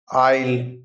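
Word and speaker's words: aisle: silent फोकसल फोकसल जहाज का आगे का भाग साइलेंट एसवा आईल गलियारा आईल गलियारा या फिर गली आईल द्वीप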